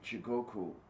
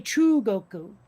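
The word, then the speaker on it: Chūgoku: I think it's actually True Goku. Like the U is extended.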